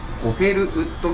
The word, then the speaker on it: Gopherwood: ゴフェルウッドギターズって読みます。